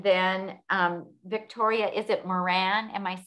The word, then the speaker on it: Moran: made um and then um victoria is it moran am i saying it right yeah so from